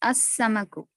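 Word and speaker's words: السمك: Al-Najmu becomes an Najmu, Al-Rajulu becomes Al-Rajulu, Al-Dikku becomes Ad-Dikku, Al-Samaku becomes As-Samaku.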